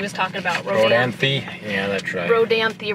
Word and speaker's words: Rodanthe: talking about Rodanthe yeah Rodanthe right here on the map it is pronounced with the e on the end and that's the one